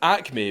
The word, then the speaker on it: AQMI: To obtain the capital that he needed, Frank set up the AQMI Corporation, which is pronounced Acme because the jokes fucking write themselves.